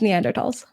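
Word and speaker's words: Neanderthals: pronounce it it's no the H is silent it's neander TS oh I I took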